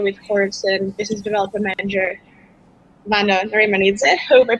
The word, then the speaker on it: Vano Narimanidze: I'm currently marketing manager at Swapzone, and today we're making an AMA with Horizen, business development manager Vano, Narimanidze. Hope I pronounced correctly your name and surname.